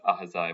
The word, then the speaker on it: Ahaziah: like the age of Ahaziah, sorry if I pronounced that wrong, 22 or 42, or Josh's father's name, Heli or Jacob? So it's pronounced Ahaziah, but that's okay.